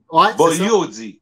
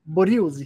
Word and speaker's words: Bugliosi: dis peut-être mal, là, Bugliosi, dans la série Omerta? Oui, mais en italien, le GL, on ne prononce pas le G, fait que c'est Bugliosi. Bugliosi, excusez-moi.